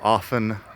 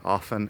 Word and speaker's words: often: Fíjate también, often yo lo pronuncio con la T, que no suena, aunque haya otra gente que sí pronuncia la T. Yo lo digo often con la T silenciosa,